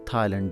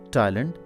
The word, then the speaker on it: Thailand: Now the word Thailand, in Urdu it is pronounced as Thailand. That's okay in Urdu, but in English it is Thailand.